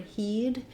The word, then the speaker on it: he'd: Then same for he'd, it's the same as this word, he'd have to do that, he'd like to be there, he'd tell you if he knew, etc.